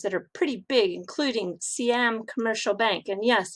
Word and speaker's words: Siam: And if I say Siam, then you get the people from America and Canada saying, what in the world is that? Well, I'm just warning you now that I'm using the Thai pronunciation.